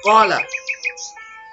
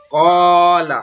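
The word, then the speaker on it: قَالَ: Pertama, ada kata qala. Ini hukum bacaannya adalah mad tabi'i karena ada fathah diikuti alif. Jadi huruf qaf yang berbaris atas, di depannya ada alif. Nah, alif itu adalah tanda panjang. Mad itu panjang maksudnya. Nah, jadi dibaca panjang. Qala. Tidak boleh kita baca qala.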